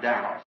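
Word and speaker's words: Daugh: Not really in his name, he's a German, D-A-U-G-H, and I pronounce it Dow.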